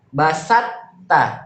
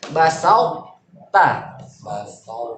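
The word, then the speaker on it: بَسَطتَ: Basatta, tipis, salah, harusnya basauta. Basauta.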